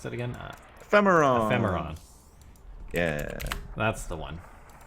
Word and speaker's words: Ephemeron: How do you pronounce that again? Ephemeron.